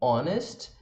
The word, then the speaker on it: honest: Há alguns casos também que o H é mudo, por exemplo, em honest e honor.